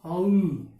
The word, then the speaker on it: whole: भी क्या होगा WHOLE का भी क्या होगा होल, क्या होगा होल।